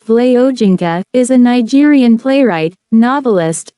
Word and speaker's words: Wole Soyinka: Akinwande Olawole Babatunde Soyinka, born the 13th of July 1934, known as Wole Soyinka, pronounced Vle Ojinka, is a Nigerian playwright, novelist, poet, and essayist in the English language.